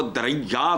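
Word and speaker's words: Diriyah: ये दरिया नहीं है। हम इसको प्रोनाउंस करते हैं दरैया।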